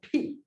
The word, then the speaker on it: pi: It's not pronounced pi, it's pronounced P. No. I mean, I did have pie yesterday, it's true. Both pizza and apple, just so you know. However, the real pronunciation, if you ask anyone who actually speaks Greek, is much closer to P than it is to pi.